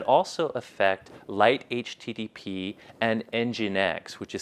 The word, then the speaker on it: Nginx: web Trojan that also affect Light HTTP and Nginx, which is spelled Nginx.